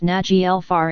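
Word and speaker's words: Naglfar: and two Finn TL Nagal far is pronounced njel far in case you unsure it's also the mythical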